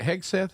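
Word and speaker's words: Hegseth: Uh and so, um uh Pete, is it Heg Seth?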